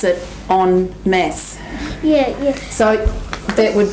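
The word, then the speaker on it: en masse: it's the way you say it is you pronounce it on mass yeah yeah so that would be we would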